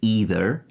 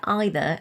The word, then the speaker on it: either: In the States, it’s more likely that people would say ‘eether’ and ‘neether’, although I pronounce them